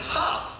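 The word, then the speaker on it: ห้า: In Thai, the number 5 is pronounced ha, so 555 is ha ha ha.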